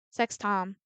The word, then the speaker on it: Septem: I think I've been saying her name wrong. I've realized it's a a sex tom. Sucks Tom.